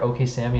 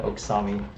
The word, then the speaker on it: OkSami: don't care it's it's the two most common are okay sammy and oksami if you pronounce it